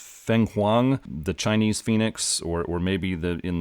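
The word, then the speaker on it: Fenghuang: Also, they have a listing for, I think it's pronounced Feng Huang, the Chinese phoenix, or maybe in the World of Dark, the only phoenix.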